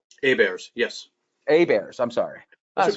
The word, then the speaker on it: Abaire: You should spell it, like the old the old quarterback guy. It was like Abaire as well. Yep. That's Abaire. Okay, I'm sorry about that. We have the French pronunciation, the English spelling.